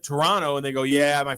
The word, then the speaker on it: Toronto: And all of them said Toronto and they go, "Yeah, my first few months here I got made fun of because I kept pronouncing the second T."